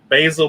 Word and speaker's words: Basil: Like we said, go follow Basil Basal Basil. You gotta say it right. You gotta say Basil uh, Basil.